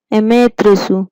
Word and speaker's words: Amaterasu: Amaterasu, pronounce it Amaterasu, mean sun goddess.